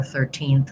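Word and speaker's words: thirteenth: Once you have TH and R, how to put them together is by focusing on that R. So trying and then put the TH on after you've got the mouth, the tongue established. So it's trying thir. So my tongue just sneaks forward to that TH position, blows some air, and then pulls right back into that position. Thir, 13th. So part of what's hard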